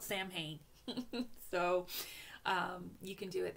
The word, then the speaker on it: Samhain: So if you celebrate Samhain, Samhain, for us non-Celtic speakers, it's spelt Samhain.